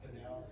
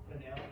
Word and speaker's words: Fennell: Fennell.